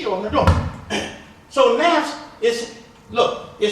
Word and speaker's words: nafs: Nafs.